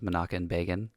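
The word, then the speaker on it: Menachem Begin: couple things so the prime minister's name was manakan Bean is the way they pronounce itan I said bean and um I'm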